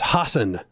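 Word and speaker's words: Hasan: the American incorrect way of saying it it's Hassen that's how you should be saying his name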